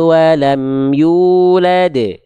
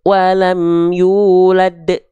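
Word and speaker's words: يولد: rodadnahu rodadnahu rodadnahu enggak tapi rodadnahu lam yalid waam yulad bukan lam yalid Wam yulad ya ahah Oke jelas paham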